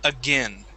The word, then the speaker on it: again: Most often, we change that A-I-N sound to a short I, saying again.